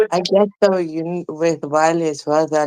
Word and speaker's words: Wiley: You said Wale? Wiley. Type his name on Google. Okay, Wiley. spell it for me.